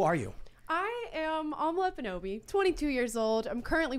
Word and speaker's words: Ekpunobi: now I feel good the K is silent okay silent that's the tricky part who are you I am omelette bonobi 22 years old I'm